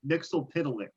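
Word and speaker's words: Mxyzptlk: Mitzelplitz. Mitzelplitz. I'm going to accept that, yeah. I wrote down a pronunciation guide for myself. It's Mixelpidalik.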